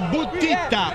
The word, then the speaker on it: Buttitta: Eh sì, Gianni Buttitta con due T prima e due T dopo, perché ci tiene tantissimo alla pronuncia corretta del suo cognome, e visto che ce l'ha